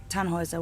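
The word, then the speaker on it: Tannhäuser: We'd pronounce it tanhoa with an um load.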